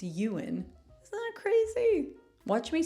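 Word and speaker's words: Ewan: McGregor's catcher block I used to say ewin McGregor it's euan but yeah did anyone else say ewin or maybe this is your first time realizing it's Yuan isn't that crazy watch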